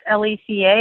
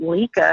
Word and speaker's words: Leca: Hey, y'all didn't have a Portuguese name growing up that's Leca, and everybody pronounced it Lika or something crazy.